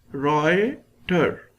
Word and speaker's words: Reuter: deals with the Reuter their pronunciation of this is given here Roy tur who founded the first